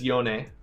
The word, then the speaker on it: Yone: yeah his name is yone his name is Japanese so you have to pronounce each uh pair of continent and syllable or sorry consonant and vowel as its own syllable yone maokai okay and